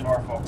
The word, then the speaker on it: Norfolk: People from Norfolk pronounce it. People from Norfolk pronounce it Norfolk. And that's how I grew up pronouncing it was Norfolk.